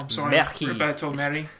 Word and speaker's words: Merhi: If not, I'm sorry, Roberto Merhi. I think it's Merhi because it's Spanish, so you have to say it with a little bit Roberto of accent. Roberto Merhi.